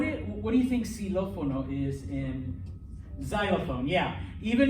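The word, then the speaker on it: xilófono: in spanish okay um if the x is at the beginning of a word okay it sounds like an s okay now there's not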